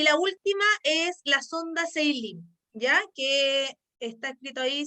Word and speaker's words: Salem: Y la última es la sonda Seilin, ya que está escrito ahí, se escribe Salem, pero se pronuncia Seilin, así se dice esta sonda, ¿ya?